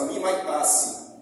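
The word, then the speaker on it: μιμητής: na no idioma grego imitador tem a pronúncia mimasse que significa primeiro imitação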